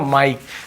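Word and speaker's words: mic: हैं क्या पढ़ते हैं माइक से ध्यान देंगे इसलिए मैं अलग-अलग वर्ड इसलिए लाया हूं कि बहुत सारा कंफ्यूजन आपको एमआईसी को आप मिक नहीं पढ़ोगे माइक क्या पढ़ोगे माइक माइक स्पेलिंग यही होता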